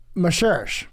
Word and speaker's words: Moscherosch: a while y I have with us Adam Maser did I get it right yes you did